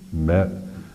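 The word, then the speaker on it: Malie: I was uh when I left California, I was not married and got to South Carolina and almost immediately met uh a uh native uh Mey and we've been married for 30.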